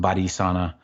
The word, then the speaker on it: Balisana: And it's spelled Balisana. And it's a pretty looking word. It sounds, it's pronounced Badisana.